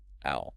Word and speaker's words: I'll: I'll. Try practicing the physical shape of your mouth for this. Your tongue touches the roof of your mouth right behind your teeth for the L sound.